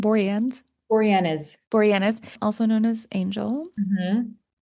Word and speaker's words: Boreanaz: Boreanaz, also known as Angel, Mm-hmm.